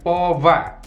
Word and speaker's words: Pova: Iya, bacanya gitu ya. Vova. Kalau orang Sunda kan Popa.